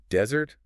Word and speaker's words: desert: Desert, the hot sandy place, has the stress on the first syllable, dessert. But dessert, the sweet cake, shifts the stress to the second syllable, dessert.